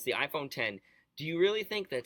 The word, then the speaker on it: iPhone X: So it's the iPhone 10.